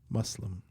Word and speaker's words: Muslim: it correctly Islam Muslim I keep saying Z but it's Muslim anyway do they know